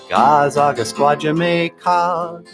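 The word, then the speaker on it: Gaa-zagaskwaajimekaag: So I wrote a song about Leech Lake, how to say it in Ojibwe. Gazaga Squadjamaica, Gazaga Squadjamaica.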